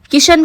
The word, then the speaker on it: कृष्ण: उन्होंने कहा कि ब्रज में ण का स्थान न से बदल दिया जाता है। जैसे कृष्ण को किशन कहा जाता है, यह भगवान के प्रति